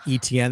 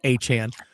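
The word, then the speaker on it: Etienne: way, I understand that a lot of people pronounce it ETN. That's how it used to be pronounced. But again, it is Achan because his brother Travis said that's how his name, their last name is actually pronounced.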